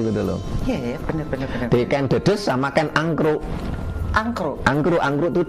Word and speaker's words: Ken Dedes: Bukan Ken Dedes sebenarnya bacanya. Dedes, ya? Ken Dedes.